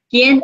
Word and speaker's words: quién: ¿Quién eres? ¿Quién? Remember, Q only says K.